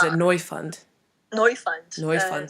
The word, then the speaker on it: Neufund: is it yeah it's annoy fund annoy you find annoys fun so yeah exactly so we like that we like the kind of German twist on the pronunciation mr.